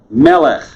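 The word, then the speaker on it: מלך: form but it's water melec king ruler this is a huge word in hebrew bible it takes a lot of forms you need to know it and notice two goals and an accent on the first syllable it is a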